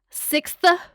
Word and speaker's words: sixth: films cuz this is Doyle's sixth sixth you got to pronounce that th at the end.